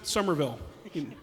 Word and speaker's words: Somerville: We pronounce it Somerville, the way it's actually pronounced.